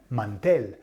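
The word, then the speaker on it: mantel: at the a tablecloth tablecloth is finishes with L it's Mandel yeah Mandel so it finishes with an l so it's broken nose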